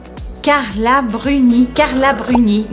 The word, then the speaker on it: Carla Bruni: a rabo em mim carla bruni então vocês estão vendo que todos esses têm uma origem latina no nome e sempre a gente puxa sílaba forte para o final ainda no ramo da